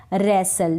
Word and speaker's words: रेसल: Next है रेसल, WRE रे, STLE सल, रेसल। अब आप यहाँ पर देख रहे होंगे कि W जो है वो भी साइलेंट है और T जो है वो भी साइलेंट है।